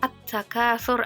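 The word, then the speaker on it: التكاثر: ada karena di lafaz attakatur ada alif lam bertemu dengan huruf ta nah gimana cara membacanya cara membacanya itu huruf lam yang di huruf lamnya itu hilang dan melebur ke dalam huruf berikutnya sedangkan nah biasanya di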